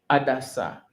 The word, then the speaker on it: Hadassah: Mardochée ici a pris maintenant Esther, qui s'appelait, son nom propre, c'est Hadassah. En français, je ne sais pas. En anglais, ici, je le prononce en anglais.